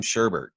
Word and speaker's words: sherbet: So mint chocolate chip, mint chocolate chip versus lime sherbet. Yeah, mint chocolate chip wins that one for me. So you pronounce that sherbet. Yeah. There's no R before the last T.